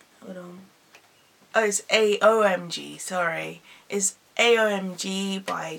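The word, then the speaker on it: AOMG: is well how it's pronounced because I'm terrible pronunciation no owes a OMG sorry is a OMG by Jay post company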